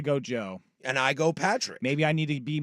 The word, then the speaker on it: Patrick: a jerk but uh my name is Patrick not Pat and there always like